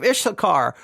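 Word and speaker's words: Issachar: now the man from the tribe of ishar that's spelled I SS a c h a r the man from the tribe of ishar who went with 11 others to search out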